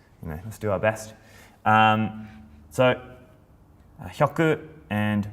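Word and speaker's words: 百: So, hyaku and momo, but again, momo.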